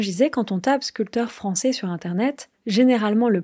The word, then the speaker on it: sculpteur: je vousi expliquis qu'un sculpteur c'est quelqu'un qui fait de la sculpture et donc attention à ne pas prononcer le P je vous ai parler